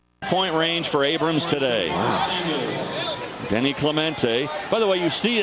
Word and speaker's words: Denis Clemente: nicknaming him denny but he's from puerto rico and that's how you say his name danny and that's the way